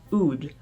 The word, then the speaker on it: oud: expensive uh aromatic product called Ood usually spelled oud sometimes there's an H at